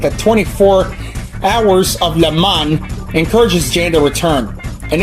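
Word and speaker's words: Le Mans: Yeah, I said Le Man, not Lemans. What a Who the [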